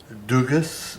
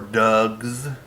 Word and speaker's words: Dugges: Yeah, it's Dugas or Dugs, depending on how you want to pronounce it, as their half idjit.